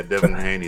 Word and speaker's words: Devin Haney: Yeah, Devin Haney. That's how you pronounce it.